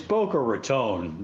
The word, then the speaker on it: Boca Raton: It's Boca Raton.